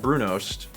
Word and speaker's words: brunost: I'll do the same the word is brunost which is a were a cheese that we Norwegians put on bread and waffles it is actually not a cheese but more like a big caramel ghost I would pronounce that brunost and also putting caramel